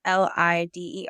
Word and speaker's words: Líder: Yeah, making Líder Moves, which is Lider, accent on the I, translates to leader in English.